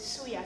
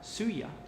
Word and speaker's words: suya: Top This paprika this is no this is suya spices suya that's a blend of spices that you find generally in West Africa suya yes suya okay how how you spell that